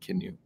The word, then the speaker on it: CNOE: and we're happy to talk to you about canu and that's the right pronunciation actually canu with that Brandon yeah so the canoe project